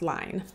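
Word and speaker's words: Lyne: was directed by adrian lin or line i keep wanting to say lin but i believe it's pronounced line and patricia highsmith she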